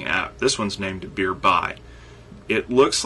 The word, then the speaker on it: Beerby: this one's named a Beer by it looks like beer be but in the description they specifically tell you that it's named beer by like it rhymes with nearby anyway beer by is